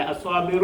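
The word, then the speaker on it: الصابر: സ്വാബിറ അസ്വാബിറു എന്ന് പറയത്തില്ല അസ്വാബിറ എന്ന് വായിക്കത്തില്ല ഇവിടുത്തെ ദിത്വം നഷ്ടപ്പെട്ടു കണ്ടോ വെറും ളമിൽ മാത്രം ഒതുങ്ങി അസ്വാബിറു അസ്വാബിറു അലിഫ് ആ ലാം ലാമിനെ ലാലീലു എന്ന് പറയത്തില്ലാ ലാമിന് ഉച്ചാരണമില്ല ലാമിനെ പറയത്തില്ല അലിഫ് കഴിഞ്ഞാൽ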